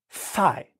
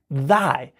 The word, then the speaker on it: thy: TH is in the beginning of both of them, but because of the I and the Y that follow them, they're pronounced differently. So thigh, if we isolate just the first phoneme, thigh is th, thigh, th, that is the phoneme. But in the word thy, it's not thigh, it's thy, th, th is the